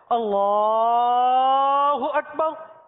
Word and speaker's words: اللہ اکبر: صحیح تلفظ کے ساتھ جو امامت کرواتے ہیں وہ لام کو ہی کھینچتے ہیں. اللہ اکبر، اسی طرح کی تکبیر آپ نے سنی ہوں گی.